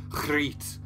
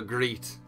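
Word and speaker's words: Griet: I googled it and apparently it's something like Crete but that just sounds like I'm clearing my throat so I might just call her grete I really enjoyed this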